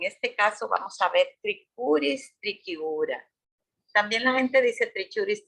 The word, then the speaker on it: Trichuris trichiura: Cuando hay CH podemos pronunciar solamente con la C. Trichuris o sería con Q o K el sonido.